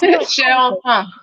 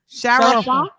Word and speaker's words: cher enfant: Oh, how you say it? Say it? Farrah Chiffon. Cher Enfant. Sharafa? Cher Enfant. It means sweet infant. So if you would say the English way, then it's Cher Enfant.